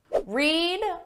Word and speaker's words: read: away your groceries yet read red red notice the spelling is exactly the same but the pronunciation changes read read read yesterday